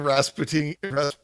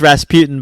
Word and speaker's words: Rasputin: had the master impersonating rasputiny how do you say that well it's Rasputin but the song says Rasputin because it's in a different language yeah okay Rasputin um